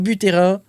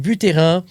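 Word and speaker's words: Buterin: Et donc notre ami, regarde la photo, notre ami Vitalic Butterrain, je vais prononcer à la française, Vitalic Butterrain euh nous annonce que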